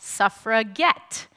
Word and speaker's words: suffragette: They actually gladly embraced the term and started calling themselves suffragette. Suffragette with a hard G.